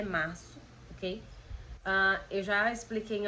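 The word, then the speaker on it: marzo: escrito com o Z, e mesmo assim a pronúncia é março, ok?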